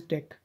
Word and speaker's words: deque: also call it as dec it is pronounced as deck so the deck is